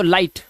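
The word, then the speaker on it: light: लाई और जी H silent तो लाइट ऐसे ही फाइट साइट राइट और नाइट।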